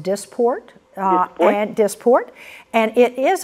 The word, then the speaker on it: Dysport: they fall in that category what do you dye sport and when will it be available well it's actually pronounced disport grant disport and it is available and the